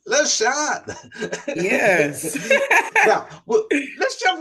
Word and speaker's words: Lasean: Now I'm going to let you pronounce your last name. My stage name is Lasean, and Lasean is my middle name. Okay. We're going to go with Lasean.